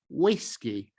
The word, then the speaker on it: whiskey: This word is pronounced WHISKEY. So, the vu-doppia is is pronounced as in English.